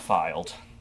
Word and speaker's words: Philed: Welcome to the town of Filed. Filed? Filed. Yes, Filed. Philed. Oh! Did you think it was fired? Like F? I thought it was like F.